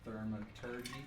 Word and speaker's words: thaumaturgy: Just for dramatic effect, I'm gonna use thaumaturgy.